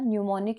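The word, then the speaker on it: mnemonic: कहलाती है ठीक है याद रहेगा निमोनिक इसको यहां पर बोला जाता है और यह इसकी स्पेलिंग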